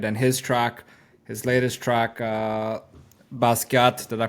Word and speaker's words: Basquiat: And his latest track, Basquiat, did I pronounce that right?